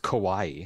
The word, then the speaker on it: Kauai: I think it's pronounced Kauai Kauai it's Hawaii with a K I'll take it nice